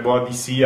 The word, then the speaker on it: Boadicea: E chi è questa boadicea intanto Vabbè la pronuncia bodicea la pronunciamo alla latina sarebbe boa di sì ma lei viene chiamata